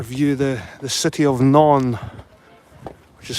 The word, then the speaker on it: Nantes: The the city of Naon, which is spelled N A N T E S.